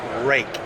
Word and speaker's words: Ruike: It's pronounced rake. It's a Danish name. It's rake, just like the garden rake, guys.